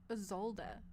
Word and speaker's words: Isolde: Pronounce? Not that it matters, clearly. Oh, Isolde? Isolde.